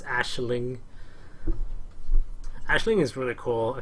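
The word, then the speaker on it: Aisling: this is actually pronounced Ashling it sounds weird I know but it's Ashling Ashling is really cool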